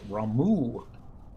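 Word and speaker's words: Ramuh: for this dent but I've learned that Roma is actually pounced Ramu or a Texan we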